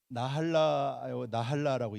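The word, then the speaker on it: נחלה: 혹은 나할라라고 하면 나할라, 기업을요 나할라라고 하면 나할라. 나할라라고 읽죠.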